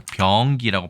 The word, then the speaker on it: 병기: 아시죠 함께 나란히 적는다 그래서 병기라고 발음을 해야 되고요 저도 장단음은 좀 쉽지는 않습니다만 예문 보시겠습니다이 목록은 한글